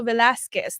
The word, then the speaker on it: Velasquez: And it's also Velasquez. That's how you pronounce it.